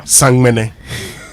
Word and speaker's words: Samini: Samini, you know Samini? Yeah. Sangmene. That's the right pronunciation.